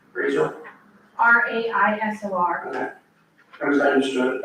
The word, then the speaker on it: Raisor: Razor? RAISOR. Okay. I understood. It is pronounced like the razor, but not.